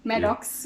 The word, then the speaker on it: Maddocks: definitely change um we know the name medak is it am i pronouncing it well no we don't pronounce it wrong maddox is but you got it guys you